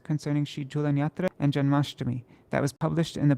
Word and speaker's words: Janmashtami: Does Janmashtami have a long I at the end? Ashtami, yeah, it does.